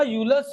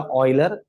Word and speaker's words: Euler: तो वेरीफाई कर ले बोला, तो उसका यूलर्स थ्योरम का मेथड, इसका मेथड जो है हम